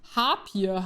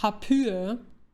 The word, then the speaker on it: Harpyie: Zeit auf der Zunge, dass es nicht Harpier heißt, sondern Harpyie. Und nein, das ist kein Joke. Im Deutschen spricht man Harpier, Harpyie aus.